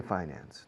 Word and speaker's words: finance: Se admite acentuación de la segunda sílaba. So you want to finance the purchase. Se dicen los dos. Personally, I say finance.